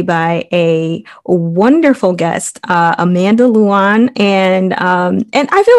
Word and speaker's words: Lewan: a wonderful guest amanda luon and and i feel like i'm always saying your last name wrong and it's say it for us no you did it right okay all right awesome